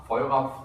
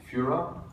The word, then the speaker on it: Feura: The Firefox guys originally wanted to call it Feura, F-E-U-R-A-F-E-U-R-A, Feura, and because it was Portuguese for fire or whatever. And I said, you know how you pronounce that in English? Führer?